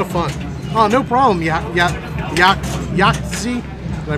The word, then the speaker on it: Yahtzee: Oh, no problem, Yachtzee. Did I pronounce that right? Oh no, it's yacht, like a boat, a ship. Schooner, yacht. Yeah, Yahtzee.